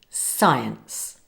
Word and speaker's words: science: It's not pronounced, as it's the silent C. It's unusual but important to know. It's present at the beginning of these SC words. For example, science, sci-fi, scissors.